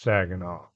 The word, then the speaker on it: Saguenay: It's Saginaw. It's not spelled Saginaw, but it's pronounced Saginaw.